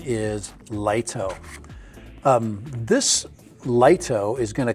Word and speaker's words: Lito: So the correct pronunciation is Lito.